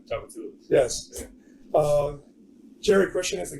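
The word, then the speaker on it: Tchoupitoulas: And if I can pronounce the name of the street they're on, I tell you to go there. It's Chapalo or something like that? Chapatulas.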